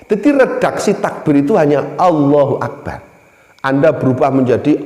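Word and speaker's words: الله أكبر: Kabid Yoga oleh tim redaksi tak begitu hanya Allohuakbar anda berubah menjadi Allahu Kabir allahuakbar atau dibalik ini baru Allah tidak boleh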